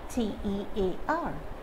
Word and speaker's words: tear: the first word is t-e-a-r let's quickly look at the two different ways that this word can be pronounced so as a noun the pronunciation is tear tear meaning the little droplet